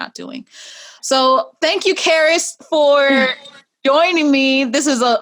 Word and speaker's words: Charis: It helps people pronounce my name correctly. It's CharisMachelle. Charis.